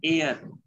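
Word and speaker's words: heir: एच ई आई आर, उसको सही pronunciation करना है एयर, हेयर नहीं बोलना है।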